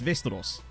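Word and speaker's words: Västerås: last night very cool westeros that's literally how it's pronounced as far as i'm aware is vestros or vestros um is it lindelof's old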